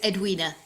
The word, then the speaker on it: Edwina: My name is Edwina. Ed Edwinina. That's it. Perfect.